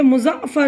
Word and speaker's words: مظفر: بلا تکلف، دارالسلطنت مظفر، دیکھیے مظفر زے میں عین ملے گا، مظفر، متنجن، مشعلیں، فروغ،